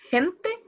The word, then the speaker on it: gente: Gentle is said as gentle or gentle? Gente. Like gente. People. A lot of people is gente. So the G is pronounced as H.